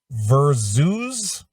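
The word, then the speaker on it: Verzuz: music fans have settled in for a new versus i don't even know what that is v-e-r-z-u-z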